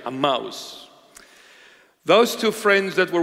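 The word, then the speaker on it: Emmaus: those two friends were walking to a mouse that's a proper pronunciation a mouse those two friends that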